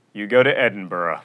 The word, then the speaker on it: Edinburgh: You don't go to Edinburgh. You go to Edinburgh.